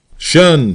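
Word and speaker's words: 'shun: Shun squad abbreviated from the attention and pronounced shun.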